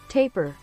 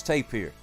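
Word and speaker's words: tapir: audience he would say taper taper taper taper taper that's tapier don't listen to the robot it's tapier taper taper how do you say it in French tap ah the French say it correctly there you go way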